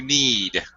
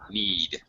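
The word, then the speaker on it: knead: uh you need to need okay the word is need KNN but just like the knee on your body on your leg all right the K is silent need all right okay all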